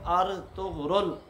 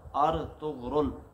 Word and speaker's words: ارطغرل: نہیں۔ تو یاد رکھیں، ارطغرل، حمزہ پر زبر اور را پر سکون، طا پر پیش، غین پر سکون، آگے را پر پیش کے ساتھ ارطغرل، یہ جو ہے اس کا درست اور صحیح تلفظ ہے۔ ترکی زبان کا